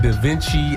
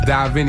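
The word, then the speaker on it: Divine: pronounce that man listen I've gotten Da Vinci I've gotten oh my got I've gotten dine I've gotten it all but it's D Vin and just to kind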